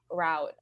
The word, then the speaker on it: route: And I was like, oh, well, I'm doing a completely different startup route. Oh, I just said that in American pronunciation. We say route in the UK.